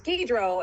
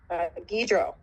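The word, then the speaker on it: Guidroz: Guidro, it's Guidro, everybody. No Z. The Z is silent. Guidro.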